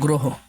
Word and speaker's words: গ্রহ: উক্ত স্বরে অ এর উচ্চারণ, স্বরে অ এর উচ্চারণ ওকার এর মতো হয়। যেমন এটা কিছু উদাহরণ দেখি, যেমন দেখো গ্রহ, গ্রহ তাহলে এটা কেমন হবে?